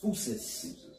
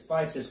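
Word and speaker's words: φύσις: When you go into that word nature in the Greek, that word is pronounced, it's pronounced phusis. But it looks like it says physis, but it's because didn't we say that you had particular Israelites who stuck to the way?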